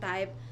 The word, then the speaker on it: Tai: My name is spelled TAI, so it's That Style by Ty.